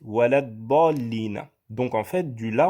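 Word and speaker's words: وَلَا الضَّالِّينَ: Vous voyez ici un alif et un lam. Sauf que lorsque vous le récitez dans Surat al-Fatiha, vous ne dites pas walal dallina. Vous dites walad dallina.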